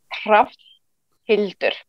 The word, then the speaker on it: Hrafnhildur: If you're quite slow at it, like Sean does, then it's Hrafnhildur.